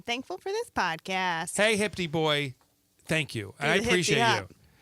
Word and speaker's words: HPT Boy: no, you got to pronounce it. Hipty Boy 41.